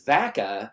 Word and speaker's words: Vaca: easy to say that my last name was vaca like vacaville and everybody knew exactly